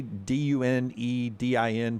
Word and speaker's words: Dunedin: Down, how do you say Dunedin, Florida? Is it Dunedin, I believe. Dunedin, Florida. I believe is how you say it.